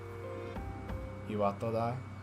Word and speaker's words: Iwatodai: So I'm not saying that my pronunciation is completely without syllable stress, but in a standard dialect, you're generally not supposed to have any syllable stress. Iwatodai.